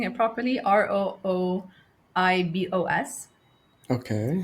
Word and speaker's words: Rooibos: Am I pronouncing it properly? Rooibos.